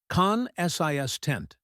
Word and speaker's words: consistent: The stress is on the second syllable. Consis tent.